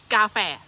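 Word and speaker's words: กาแฟ: word mm coffee oh coffee is sounds similar but not the same it is gafe gafe very good so the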